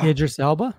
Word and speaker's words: Idris Elba: right i don't know who you're talking about idris elba erdris alba thank you i cannot say his